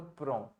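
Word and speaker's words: prennent: Spelling तो ये लिखी है आपने, Pren. P-R-E-N-N-E-N-T. अब प्रोनाउंसिएशन क्या होगा Prenen. इसका वैभव? PRAN, Prenan. PRAN, PRAN, Pren. PRAN. या इट्स not Pranay, it is PRAN, right.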